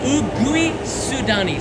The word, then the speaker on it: Uguisudani: So, we're going to be leaving from Ueno station, Ueno, and going to Usui Sudani, which is a mouthful, Ugui Sudani.